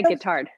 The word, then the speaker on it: Guittard: Oh, and I used Guittard. Is that how you pronounce the chocolate? It is. Yeah, Guittard.